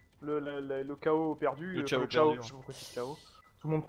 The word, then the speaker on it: Chao: Bon, je sais qu'il y a beaucoup de Français qui prononcent ça chaos, alors que je sais que dans, moi, la, je chao, donc, voilà, dans la communauté américaine, c'est. Ouais, c'est chao, ils disent. C'est chao, c'est prononcé comme ça, par et même par les doubleurs en fait.